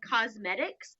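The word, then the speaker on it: Qosmedix: from a website that's called cosmetics it's spelled really weird some is spell it for you it's qos m.ed IX which totally breaks all the grammar and spelling rules and drives me nuts but that's how it's spelled and the part number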